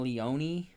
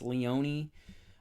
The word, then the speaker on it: Leone: it like that himself for the longest time I thought his last name was Leon but apparently it's Leone I thought the e was silent but it's not so I'm a big fan